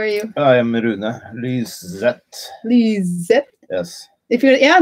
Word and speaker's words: Lyseth: Lyseth, because the TH is like a T. Yeah. And the Americans want to go S.